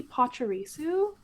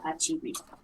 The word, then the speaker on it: Pachirisu: And I think my favorite Pikachu adjacent Pokemon might be Pachirisu. Am I pronouncing that right?